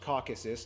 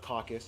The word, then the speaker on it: Caucasus: By the way, it's pronounced Caucasus, not caucus.